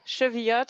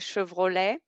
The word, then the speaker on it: Chevillotte: my name is cheviot i know no one wants to pronounce my name it's a bit hard i get a lot of posts with chevrolet um yeah so it